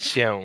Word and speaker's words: się: kind of say it with your nose too. So it's like Się.